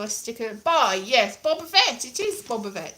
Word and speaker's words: Boba Fett: but that's not right because double t isn't a double d double d in honor